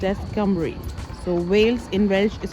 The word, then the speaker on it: Cymru: welsh language is called cumric so cymru is pronounced as cumbrie so whales in welsh is called campbell and i was pronouncing it since morning was kymeru time rule but apparently it's pronounced as some